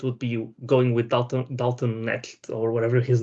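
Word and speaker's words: Dalton Knecht: be going with Dalton Necht, or whatever his name is. I can pronounce the second name. Connect, yeah. You say the K?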